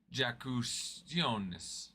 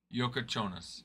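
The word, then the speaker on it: Jakučionis: Kasparis Jakusionis. I doubt I'm pronouncing that right. Is he there right now? Oh, he is there right now. Yokochonas.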